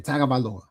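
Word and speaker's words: Tagovailoa: Most people don't know how to pronounce his name. Tag Valoa from Alabama.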